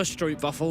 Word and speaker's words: stroopwafel: I'd love a stroopwafel right now. Oh, How was my pronunciation on?